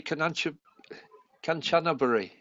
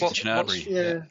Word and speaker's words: Kanchanaburi: Well, honestly, it's interesting that I pronounce Kanchanaburi, but some people say Kanchanaburi. Yeah. It's just Kanchanaburi.